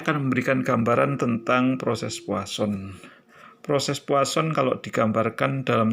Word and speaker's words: Poisson: Tulisannya Poisson, tetapi kita membacanya adalah Poisson.